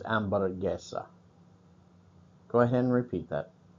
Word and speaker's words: hamburguesa: Notice with this, it is spelled hamburguesa via English, but the H's are silent in most Spanish words, so it's hamburguesa.